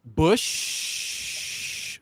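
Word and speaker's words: Busch: flavor enhancer preserver um and i can drink bush the beer okay good and that's and that's the correct way to pronounce that also of course he also went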